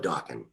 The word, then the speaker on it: Dokken: Let's just call it Dokken because my name is unusual and it rhymes with rockin'.